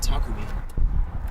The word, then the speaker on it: Takumi: Why do we call him Dagumi instead of Takumi? I don't know. We just say no. You just mispronounce it on purpose.